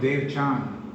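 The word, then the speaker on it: Devachan: renounce the life of Dev Chan, or the heaven. Some people call it Khan, C-H-A-N. We pronounce it depending more on Sanskrit, Dev Chan.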